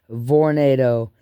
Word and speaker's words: Vornado: V instead of tornado they're pronounced with a V Vornado they're little space heaters